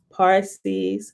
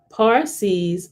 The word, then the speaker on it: Parsi: it looked like okay parsees signify defenders of the faith but it should be pronounced pa in such words as parcel and parachute which we have adopted